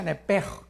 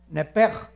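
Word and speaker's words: נפש: Se pronuncia nepej, porque la CH en hebreo es j, nepej.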